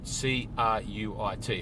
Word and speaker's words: Cruit: it out it's spelt c-r-u-i-t another one of these words uh in irish where it's pronounced different to how it would read but uh cruit one